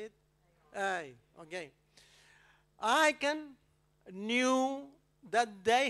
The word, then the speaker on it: Ai: How do you pronounce that? A-A. Ai. Australian, man. Language is complicated, man. Ai. This is Spanish. Ai. Simple.